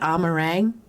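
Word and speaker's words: Amh Araeng: first showed up in amarang you know how i remember how to pronounce that ah meringue because it sounds like lemon meringue and i like meringue he's already preyed on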